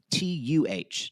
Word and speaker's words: Tata: Like almost think of it as TAHTUH.